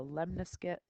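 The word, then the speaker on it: lemniscate: graph is called a lemnis get which you can see in your notes rhymes with triscuit so this lesson today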